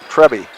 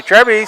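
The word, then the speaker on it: Trebbe: Trebby is how I would say it anyway. Trebby. I thought you said T. T-R-E-B-B-E. Trebby. Trebby. Oh, Trebby. I wrote D. Trebby. I'm sorry, Trebby.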